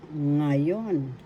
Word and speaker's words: ngayon: is ngaah nga nga example halimbawa ngayon ngayon ngayon that means now in English first syllable na second syllable iyon the accent is in the second syllable ngayon ngayon ngayon now